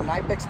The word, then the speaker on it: Knipex: I can carry a set of, I can carry a set of Knipex pliers, is the proper way to say it.